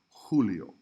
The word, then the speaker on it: Julio: would write a 1 the letter J highlight is pronounced like the letter H in English so when you see a J it's gonna sound like the word hat but even stronger como Julio Jota hey Cuong write